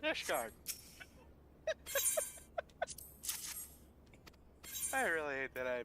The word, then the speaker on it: Ishgard: But it rhymes. Like Isengard, but Ishgard.